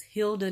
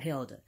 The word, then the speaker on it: Hilda: It's Hilda, not Hilda.